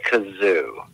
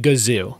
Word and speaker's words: Gazoo: I believe his name was Kazoo. I'm going to give it to you and pretend you did a hard G with what you said. It was the Great Gazoo.